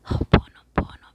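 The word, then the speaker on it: hoʻoponopono: I don't know if in English you pronounce this way, but it's hopono pono.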